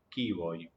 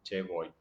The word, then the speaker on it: che vuoi: Tengo entendido que la forma de pronunciación en italiano sería chi vuoi. No conozco italiano, así que me voy a basar en el che vuoi.